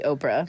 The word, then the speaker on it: OPRA: from the last time the o in ohio provider resource association as i just said stands for ohio therefore phonetically if you were sounding out the name it would be oprah it would be oprah